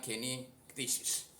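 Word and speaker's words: καινὴ κτίσις: Jadi dari kata keniktesis itu bacanya keniktesis, itu pronounce-nya. Nah, ketika kita menjadi ciptaan baru, disitulah kita bisa bertindak menjadi berkat Allah, bisa menjadi berkat Allah.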